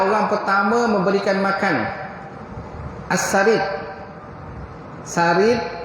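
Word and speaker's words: ثريد: Sarid ejaan dia saroyadal. Sarid. Saroyadal. Huruf sa.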